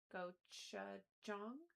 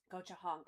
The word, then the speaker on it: gochujang: Goch- Is that a Is that an H sound? Gochujang? Gochujang? Anybody know how to say that before I put it out on the internet? What is the j- What sound does the J make? I need Lem. I feel like Lem would know how to say this. Gochujang. Okay, I thought it was an H and then I didn't want to be wrong.